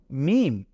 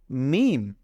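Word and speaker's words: ميم: নুক্তা দেখতে পাচ্ছি না তো এটাকে আমরা বলব মিম এটাকে আমরা বলবো মিম এরপরে এইখানে আমরা যদি একটা নুক্তা দিয়ে দেই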